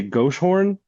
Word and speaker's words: Goshorn: like a Dutch area, they'll say ghost horn. So I don't even know if I'm actually pronouncing it correctly. So, I just go with Gosshorn and as long as